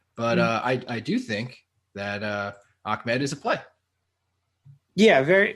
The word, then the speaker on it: Ahmed: I think it's pronounced Ahmed. Is it really? Yeah, that's a thing with that name is it's pronounced like it has a K in it.